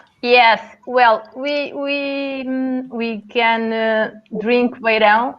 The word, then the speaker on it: Beirão: What's the correct pronunciation? Let me get this right. Is it Beirão or Beirão? Beirão. Beirão. Almost right. You say Beirão very well, Gary, because normally it's very difficult to the English person to spell Beirão because